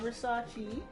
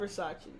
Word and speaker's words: Versace: You're not Versace. You're Versace. You have $350 gold remaining in the wedding budget.